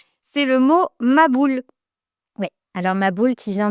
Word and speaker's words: maboul: On n pas le ha, on n pas le ha et donc on on dit ma boule.